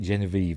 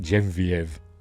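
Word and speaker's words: Geneviève: I've always pronounced it Genevieve, but I've heard people pronounce it Genevieve, whatever.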